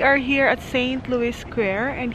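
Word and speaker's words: Saint-Louis: here at St Louis square and here they pronounce it as squa St Louis right St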